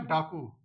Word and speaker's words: डाकू: एक ही शुद्ध है तो डाकू का हम प्रोनंसिएशन यानी कि उच्चारण करेंगे तो ड कु यानी कि जो कु है वो एकदम तुरंत नहीं होता है उसमें भी टाइम लगता है थोड़ा तो क्या हो जाएगा आंसर बनाऊ की मात्रा हो जाएगी तो क्या